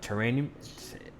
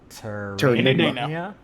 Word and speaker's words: Terranigma: He says, for Alex, just because he knows about I can't even pronounce that. Terranium. Terranigma. How do you pronounce that? Terranigma. Terranigma. Nigma. Terranigma.